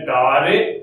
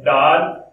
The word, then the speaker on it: dare: डार note का, जिसको हम डेर बोलते हैं। अधिकांश इसको शुद्ध उच्चारण में क्या बोला जाता है? डेर। लेकिन जैसे स्पेलिंग देखते हैं या अपने यहाँ प्रादेशिक भाषा में इसको डार बोला जाता है, जबकि शुद्ध उच्चारण है इसका डेर नोट, डेर नोट।